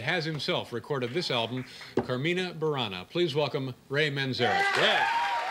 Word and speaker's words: Carmina Burana: Did I pronounce this correctly? Carmina Burana.